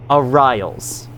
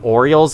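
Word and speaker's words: Ariral: by the way, uh, one of you told me their pronunciations, uh, the pronunciations of their name. It is Ariel. Arials. I might call them Orioles on accident cuz I think that's the name of like a baseball team in real life, and I've heard the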